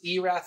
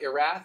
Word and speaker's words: Erath: so if you ever want to know house pronounces Erath not Erath as I've been saying probably about 10 years